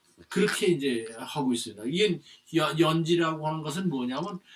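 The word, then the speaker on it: 閼氏: 근데 후유 소에 요거 이제 이게 연지라고 있는데 요거 원래 알자죠. 알자. 그 알씨. 그죠? 그런데 이걸 갖다 이제 연지로 읽어라. 그렇게 이제 하고 있습니다. 이게 연지라고 하는 것은 뭐냐면 이 흉노족의 황후를 연지라고 그 이제 호칭을 합니다.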